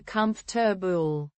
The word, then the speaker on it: comfortable: another tricky word is comfortable many Spanish speakers pronounce all the syllables right in English we often shorten it to comfor it takes practice to